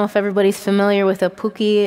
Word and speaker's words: puki: I wish I would have brought my pookie bottom. that I was kind of picked up from the Southwest potter friends. I don't know if everybody's familiar with a puki. It's spelled P-U-K-I, and it's a fired clay bottom